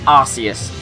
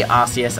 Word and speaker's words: Arceus: Yes, it's Arceus. I say Arceus, I know people say Arceus. I watched a video by Jay Witz yesterday, actually. I think the anime has called it Arceus, Arceus, and Arceus.